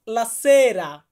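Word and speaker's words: la sera: এবং লাসেরা, এখানে লাসেরা উচ্চারণটা এমন না, লা হচ্ছে আর্টিকলের জন্য, লা বাদ, সেরা, সেরা মানে হচ্ছে সন্ধ্যা।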